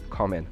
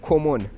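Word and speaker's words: common: صحبت می‌کردم یه واژه‌ای بود به معنی رایج، کامن به معنی رایج، و اینو موقعی که حالا داشت صحبت میکرد مثلا به هم میگفت کمون.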